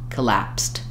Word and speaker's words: collapse: it on lapsed and collapsed same pronunciation for the first part of the word we just have that short little schah so you can think about it this way collapse collapsed but when we use